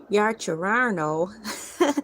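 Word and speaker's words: Yaccarino: stated that the issue was being addressed Linda Yarano resigned as CEO of X in early July. Wow. So her name is spelled Y A C C A R I N O.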